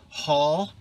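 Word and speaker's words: Hull: that pottery has taken i still love hall which is spelled h-u-l-l not to be confused with h-a-l-l this is hall art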